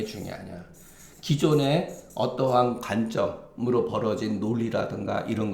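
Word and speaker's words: 磯: 이게 기가 뭐냐?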